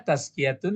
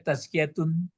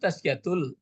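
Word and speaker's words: تزكية: yang menanggung beban tazkiatu itu dibaca boleh tazkiyatun tazkiyatun ya Pak ah Coba kalau diulang membacanya sama-sama dari li Anna coba liatulatul Lil badani tkiatun jangan taskiatul tazkiatun taskiatun Li badani apa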